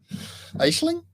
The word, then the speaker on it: Aisling: you pronounce it uh ashley aisling there's no g oh geez i'm gonna